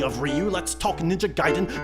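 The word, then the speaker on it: Gaiden: region property speaking of Ryu let's talk ninja giden not gayen it rhymes with metal gears Ryden that's Ryden not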